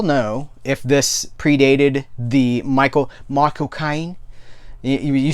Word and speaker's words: Michael Caine: I can't remember which celebrity taught us this, but if you want to replicate Michael Caine's accent, you say my cocaine. You say Michael Caine. Michael Caine. That's how you say his name.